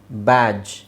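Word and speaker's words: badge: silent ಮಾಡಿ ಬ್ಯಾಜ್ ಬ್ಯಾಜ್ D silent ಮಾಡಿ ಎಡ್ಜ್ ಆದ್ರೆ ಸಾಮಾನ್ಯವಾಗಿ ಇದನ್ನ ನೀವೆಲ್ಲ ಇದನ್ನ ಬ್ಯಾಡ್ಜ್ ಜು ಅಂತಾನೆ ಹೇಳ್ಕೊಂಡು ಬಂದಿದ್ರಿ ಅಲ್ವಾ ಬ್ಯಾಡ್ ಜು ಬ್ಯಾಡ್ಜ್ ಬ್ಯಾಡ್ಜ್ ಜು ಜಡ್ಜ್ ಫ್ರಿಡ್ಜ್ ಬ್ರಿಡ್ಜ್ ಜು ನಾವು ಡ ಪ್ರೊನೌನ್ಸ್ ಮಾಡ್ತಾನೆ ಬಂದಿದ್ದೀವಿ ಬಟ್ ಅಲ್ಲೆಲ್ಲ ಡ ಪ್ರೊನೌನ್ಸ್ ಮಾಡೋ ಅವಶ್ಯಕತೆನೇ ಇಲ್ಲ ಬ್ಯಾಡ್ಜ್ ಜು ಬ್ಯಾಡ್ಜ್ ಗೆ ಬ್ಯಾಡ್ಜ್ ಅಂದ್ರೆ ಸಾಕು ಡಿ ಸೈಲೆಂಟ್ ಫ್ರಿಡ್ಜ್ ಮನೆಯಲ್ಲಿ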